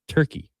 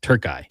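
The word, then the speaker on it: Türkiye: you would say is Turkey for top spot. I might say Turky. Turky. I believe that's the more correct way to say it uh today.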